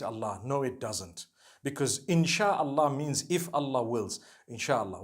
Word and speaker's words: insha'Allah: No one says inshi Allah. They say insha'Allah.